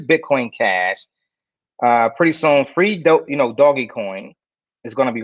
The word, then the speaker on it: Doge: Let's look at Doggy Coin, D-O-G-E, Doggy. They always called it Doggy, and not a new pronunciation. People are saying Doge coin, but really it was called Doggy Coin, right?